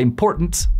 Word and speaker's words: important: La palabra important, muy americanamente pronunciada, important.